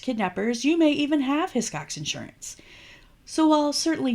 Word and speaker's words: Hiscox: name, then paused, and then very tentatively started, "His Cox?" By about the third or fourth time, I chimed in with a pretty quick "Hiscox," just like it's spelled. Because honestly, a pause in the middle, not good.